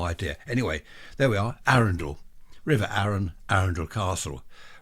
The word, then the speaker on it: Arundel: Well, it's on the river Arun. So I've always called it Arundel. It is Arundel, Arundel.